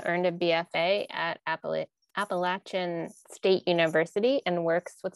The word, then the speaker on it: Appalachia: north carolina kayla earned a bfa at appellate appalachian state university and works with ceramics and painting